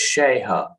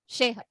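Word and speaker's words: Sheiha: S-H-E-I-H-A, but the I is silent. S-H-E... I. I'm going to write it. So, it's Sheha. Is that right? Yeah, Sheha.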